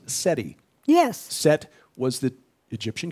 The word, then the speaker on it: SETI: study of extraterrestrial intelligence the acronyms for both essentially are pronounced seti yes set was the